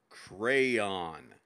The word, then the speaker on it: crayon: crazy as in your crazy to think it's pronounced any other way than crayon crayon get it crayon crayon crayon